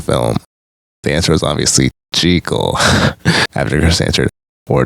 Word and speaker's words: Jekyll: The answer was obviously Jekyll, after Chris answered, or Jekyll as it turns out.